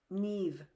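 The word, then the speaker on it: Niamh: Neve. Eve. No, ne. I am Irish.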